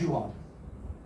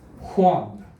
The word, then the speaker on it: Juan: But in Spanish, it's not Juan. It's Juan. Juan. The J sounds like an H.